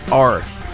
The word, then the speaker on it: Arð: see by the lettering, it says like A-R-D, but it's actually pronounced Arth.